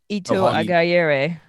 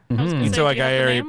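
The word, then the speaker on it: Ito Aghayere: name, so someone please help me with the pronunciation of Guinan's actor. Ito Agayere. Ito Agayere played. She just. Am I right? Yeah, I think you're right.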